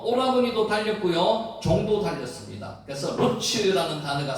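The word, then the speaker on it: רוּץ: 그가 우물로 달려가 그 사람에게 이르러, 여기서 달려가가 와타라츠라는 두 단어 그 발음을 했는데 실제로 루츠입니다. 루츠가 다름박질하다, 달리다는 뜻입니다.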